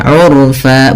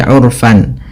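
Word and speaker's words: عرفا: Ketika kita berada di akhir bacaan ini, kita baca dengan bacaan mad iwad, yaitu mengganti fathatain menjadi panjang. Sebagaimana mad thabi'i urfa bukan lagi urfan, tapi urfa dua harakat.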